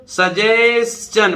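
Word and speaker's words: suggestion: नहीं बन रहा है, सजेशन, कैसे पढ़ेंगे इसको, सजेशन, मैंने बताया ना STION, तो S से बनेगा शा, TION से चा, और ये ना, मतलब T से चा बनेगा और IO का उच्चारण नहीं होगा, सजेशन, सजेशन ना, ऐसे पढ़िए।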